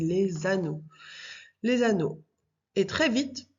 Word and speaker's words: les anneaux: S les les anneau donc après on fait la liaison on dit les anneaux les anneaux et très